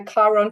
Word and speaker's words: Chiron: of this conversation, because Chiron is the planetoid here, looks like a little K with a bubble underneath it. It's spelled CH though, so don't let that give you.